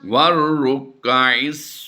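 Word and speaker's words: والركع: लित्ताइफीन वल्आकिफीन वर्रुक्काइस सुजूद। वर्रुक्का वर वाउ रा ज़बर वर करेंगे, ठीक है।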